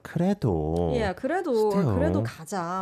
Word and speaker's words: 그래도: It sounds as if there's a liel pachim to 그래도, but you separate those, right? Yes. Again, 그래도 we don't have a 받침 here. Yeah. So just softly you pronounce it as 그래도.